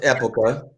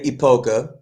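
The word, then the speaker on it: Época: So in Spanish, it's pronounced Epoca. Yeah. Us gringos generally say Epoca.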